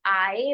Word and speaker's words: I: इसको प्रोनाउंस कैसे करते हैं, इसको आई नहीं बोलते हैं, इसको आए बोलते हैं।